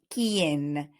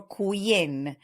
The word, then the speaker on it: quien: exercises, but in speaking, the letter U is silent. For example, we've got queso and quien. So we do not use We do not say queso or quien. Those words do not exist, so the U is always silent.